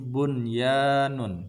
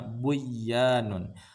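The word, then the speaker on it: بنيان: tidak boleh baca duya ini bunyanun tidak boleh membacanya buyanun ininwanun tidak boleh membacanya qiwwanun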